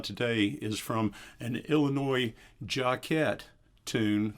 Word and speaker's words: Jacquet: but anyway I used to always call it Jack ed and I know some people say Jacques a